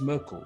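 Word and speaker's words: Myrkul: yeah actually there's because i was actually looking up the pronunciation of it and it is it's merkel yeah all right so that's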